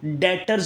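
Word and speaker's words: debtor: accounts receivable या इनको डीटर भी कहते हैं यह देव आरएसएस में बी जो है ये साइलेंट है डेटर बोलेंगे इसको क्या बोलेंगे डीटर ठीक है तो अकाउंट्स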